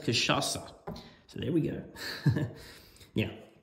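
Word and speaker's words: cachaça: do that I've got I just found out it's pronounced kashasa so there we go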